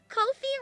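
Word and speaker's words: Ko-fi: Kofi rhymes with no fee.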